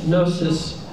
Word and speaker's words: gnosis: would spell it g-n-o-s-i-s gnosis um you can hear no k-n-o-w gnosis that our words no